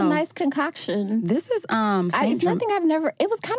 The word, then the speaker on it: St. Germain: Uh uh is Germain, you don't pronounce the T. So, it's just St. Germain.